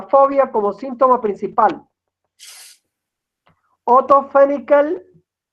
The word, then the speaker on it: Fenichel: Otto Fenichel, Lara me dice que diga Fenichel, no Fenichel.